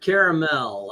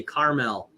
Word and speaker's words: caramel: it's like the word caramel I hear women mispronounce the word all the time at coffee shops they say Carmel but clearly there's a second a in there and that is amazing